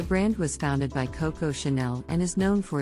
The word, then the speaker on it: Chanel: and high-end leather goods Chanel is another French luxury fashion brand that is often mispronounced some people pronounce it as Chanel but the correct pronunciation is Chanel the brand was founded by Coco Chanel and is known for